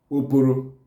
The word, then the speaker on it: Oporo: They are referring to giant crayfish, and they are called Oporo in Igbo.